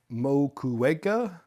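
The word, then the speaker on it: Moquegua: So Lima, Ica, Arequipa, Mocueca, You pronounced all those amazingly.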